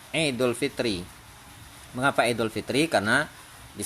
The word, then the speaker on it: Idul Fitri: Terus Bapak baca misalnya Idul Fitro. Nah, dia jadi salah itu. Ya, dia jadi salah. Nah, karena apa? Karena huruf ro-nya itu harus bacanya kasroh, Idul Fitri.